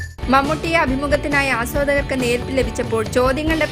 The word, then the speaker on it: മമ്മൂട്ടി: മമ്മൂട്ടിയെ അഭിമുഖത്തിനായി ആസ്വാദകർക്ക് നേർപ്പ് ലഭിച്ചപ്പോൾ ചോദ്യങ്ങളുടെ പ്രവാഹമായിരുന്നു ഷാർജാ പുസ്തകോത്സവത്തിൽ പരിഷ്കാരത്തിന്റെ സൂപ്പർ സ്റ്റാറിന് നാടൻ പേരായി മമ്മൂട്ടി പ്രയാസം ഉണ്ടാക്കുന്നുണ്ടോ എന്ന ചോദ്യത്തിന് ഒരു വിഷമം ഇല്ലെന്നാണ് മമ്മൂട്ടിയുടെ